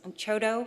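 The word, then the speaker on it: CHDO: for um affordable housing says CHO is how we pronounce it.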